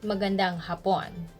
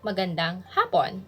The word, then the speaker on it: magandang hapon: is the late afternoon don't say magandang hapon be careful with the stress because hapon means japan or japanese so if you say magandang japon that would mean like a pretty japanese so it should be magandang hapon for late afternoon if you get confused